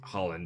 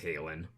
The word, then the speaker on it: Halen: I keep saying it Holland, but I know it's pronounced Halen.